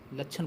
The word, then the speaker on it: लक्षण: ला, sorry friends, ला, आधा चा, छा और ना, लक्षण बोलते हैं फ्रेंड्स।